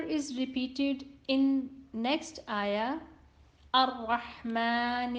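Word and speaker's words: الرحمن: Ra is always read heavy when it has Fatha on it. So, Ar-Rahman Ar-Rahim.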